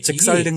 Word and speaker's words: 작설: 작설이라는 거는 한문을 정확히 용어를 알고 이야기를 해도 작설이라는 말을 발음하기가 우리가 굉장히 좀 편한 발음은 아니죠. 그렇죠. 예. 일상적인 발음은 아니거든. 예. 이게 표현을 굳이 하자면은 좀 전문성이 있는 발언이 작설이야. 예. 그리고 그 표준이 맞다고 볼 수 있는데 예. 근데 우리가 편하게 작설하다 보면 잭살로 간다고. 예.